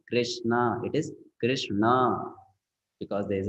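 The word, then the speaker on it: कृष्ण: why it is not Krishna it is Krishna because there's a DOT below n now you understand there's a DOT below n so it is not Krishna it is Krishna now what happens if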